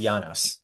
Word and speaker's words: Janos: So it is my name is pronounced Janos.